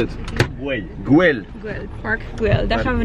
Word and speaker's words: Güell: How do you pronounce it? Güell.